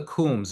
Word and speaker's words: Coombs: What about the Coombs? Am I pronouncing that correctly? Yes, you are pronouncing it correctly, and they're another example where I found different variations of that last name.